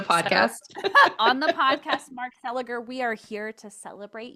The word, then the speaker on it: Seliger: On the podcast, Mark Celiger, we are here to celebrate you and your longunning relationship, established professional relationship with our girl.